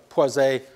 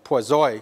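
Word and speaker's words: Poiseuille: formula which is well known as the poise a formula or as a french-canadian student once insisted to me after I had mispronounced it said the quasi formula the volumetric flow rate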